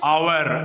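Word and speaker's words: hour: सामने दही लगाते हैं आवर ए साइलेंट इसमें आवर पढ़ रहे हैं तो एन आवर एक घंटा एन आवर आईडिया आप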